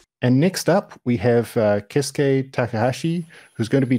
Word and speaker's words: Keisuke: You can put accent anywhere in my name, as you like. Keisuke, Keisuke, or Keisuke.